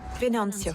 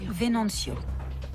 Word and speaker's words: Venancio: Comment on prononce son nom? Venancio. Venancio.